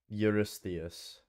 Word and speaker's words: Eurystheus: How do we pronounce it? King Eurystheus. Eurystheus.